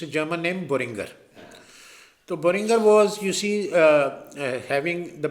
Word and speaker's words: Boehringer: تو N other company جس کا نام تھا بورنگر مینہائم، Acha, Boehringer is very innovative and exciting name. Mostly people don't pronounce it correctly. ہاں جیسے میں بھی کہتا تھا برنجر.